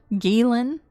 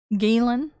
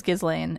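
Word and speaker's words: Ghislaine: She kind of sounds like Gizlane Maxwell, which by the way, her name is French and is pronounced uh Galen. Galen, but I'm American and it looks like it says Gizlane.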